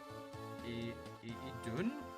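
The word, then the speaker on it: Idunn: Idun is pronounced like Edun. Edun. I think so. I always thought it was Idun.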